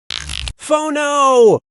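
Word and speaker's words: phở: Pho-no! This delicious soup is pronounced pho.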